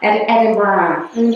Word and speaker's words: Edinburgh: It's On brand, it's from Edinburgh, I don't know. Edinburgh, I know. How do you say it? Edinburgh. Edinburgh. Yeah, Edinburgh. Edinburgh. Like bra.